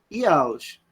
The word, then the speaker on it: Jauss: Se escreve Jauss, né? Tá? Mas no alemão a gente pronuncia Jauss.